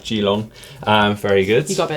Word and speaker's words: Geelong: "Need to whip him for his pronunciation of Geelong." I mean uh, jeelong, very good.